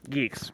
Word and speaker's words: Guix: as bad as say goix Geeks however you say it I say it guix because that's how it's spelled um but yeah n